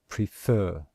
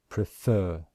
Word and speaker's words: prefer: of a word example the word prefer can you hear that we stress the second syllable and in ipa we